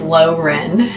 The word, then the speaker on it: Loren: Loren, I think is how you say her name. It's not Lauren, it's Loren and Darien.